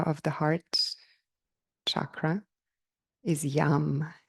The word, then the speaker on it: yam: the Bea Mantra of the heart chakra is yam it's spelled y a m like mother this is